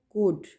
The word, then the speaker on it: could: कुड, L silent है, कुड।